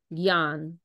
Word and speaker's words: Gyan: It's a funny word. It's pronounced Gyan. Not the autocorrect is not helping me right now. Okay. So Gyan, that word Gyan is pronounced like that.